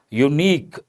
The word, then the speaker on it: unique: right or wrong unique the first letter U but the pronunciation U Y sound. U sound that is a consonental sound. Based on that we have to say a unique person not an unique person.